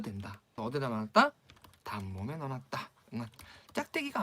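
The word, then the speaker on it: เงิน: 응은이죠. 길게 장모음으로. 근데 왜 단모음에 넣어놨을까요? 이거 차용합니다. 한자 은에서 왔어요. 은. 즉 은에서 와서 이거 발음은 태국 사람들은 다 어떻게 한다? 응은 짧게 하셔야 돼요.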